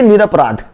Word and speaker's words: निरपराध: तो निरापराध तो कभी बोलिए ही मत, बोलिए निरपराध।